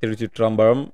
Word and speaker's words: Thiruchitrambalam: So, yesterday I went and checked out Thiruchitrambalam. Thiruchitrambalam. If I'm saying it right, Thiruchitrambalam.